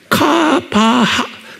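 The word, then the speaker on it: קוה: 히브리 말로 뭐로 되냐면 K가 아니고 Q예요. 그러니까 발음을 Q예요. 카바하, 이거 H에 하, 그러니까 카바, 이렇게 되면 카바, 이렇게 하는 거예요.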